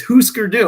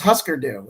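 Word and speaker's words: Hüsker Dü: I'm like, oh, is that how you say it? And it's like, yeah, what do you think those dots mean? Yeah. It's Husker Du. I thought it was Husker Du, and that doesn't even make sense.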